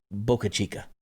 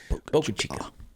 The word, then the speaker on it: Boca Chica: Boca Chica. And most of these towns, I don't even pronounce them right, but it's the way it is. Sounds like Topo Chico, the water. Boca Chica.